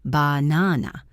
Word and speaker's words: banana: We do not say banana. We say bhana. The first and last become schwas.